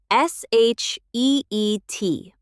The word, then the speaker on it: sheet: Same situation. Long e sound. Sheet. Not the short i version. That's a very different word.